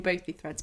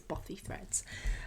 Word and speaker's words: Buffy Threads: wrong this whole time i've been saying both these threads but apparently it's buffy threads um so that is